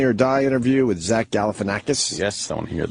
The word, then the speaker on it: Galifianakis: All right, when we get back, we got the Obama Funny or Die interview with Zach Galifianakis. Yes, I want to hear that. I could finally pronounce his name after all these years.